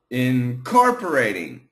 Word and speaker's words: incorporating: incorporating by incorporating okay I put the stress um uh which which syllable on the core in core incorporating incorporating incorporating perfect start